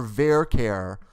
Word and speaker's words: VARCHAR: now let's talk about varchar' or ver care depending on your dialect I say varchar' but some people say ver care that's fine rhymes with Care Bear right so here what